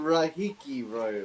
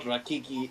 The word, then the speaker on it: Rahiki: Okay, then how do I pronounce it, dude? Tell me, That's dude. Rahiki, bro. Rahiki. Rahiki. There we go. Rahiki, there Thank we you. go. Not Rakiki.